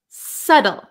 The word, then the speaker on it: subtle: you've got it now we also have a silent B so we pronounce this word s s subtle subtle okay so this